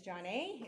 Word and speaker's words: Joneé: Telling a little bit about myself, my name is Joneé. It's pronounced like Renee, but with a J.